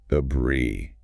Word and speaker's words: debris: Debris. Debris. Silent S. Stress on the second syllable.